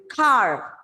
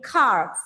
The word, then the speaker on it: carve: Carve. Again, carve. In the word carve, R is silent because a V is coming after R.